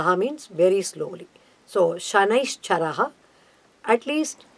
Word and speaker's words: Shani: do not become victims for that so please pronounce Shani Shanna's Chara ha like that give him more